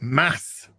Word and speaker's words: Mads: movies at all and apparently actually you should pronounce it Mass Mickelson mass mass Mickelson yes that's what I've been told by Danes right well they know